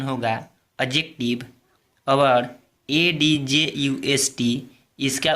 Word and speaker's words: adjective: जैसे ADJUST और ADJECTIVE में डी साइलेंट हो जाता है, क्योंकि प्रोनाउंसिएशन ट्रिक इस प्रकार है।